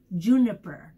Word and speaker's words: Juniper: Juniper, that's how you say it.